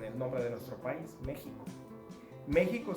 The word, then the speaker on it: México: Y esa es la misma pronunciación que tenemos en el nombre de nuestro país, México. México se escribe con X, pero se pronuncia como lo que hoy día pronunciamos como J.